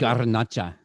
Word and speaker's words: Garnacha: You got to roll your R's. Garnacha. Garnacha.